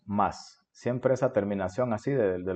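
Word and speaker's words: ます: al final lo le lo escribimos má su pero lo pronunciamos más siempre esa terminación así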